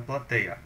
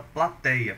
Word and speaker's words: plateia: você poderia achar pela plateia. Por quê? Plateia é uma daquelas que perdeu o acento. É uma paroxítona, né? A mais forte aqui é tei, e essa paroxítona tem na penúltima sílaba um ditongo aberto.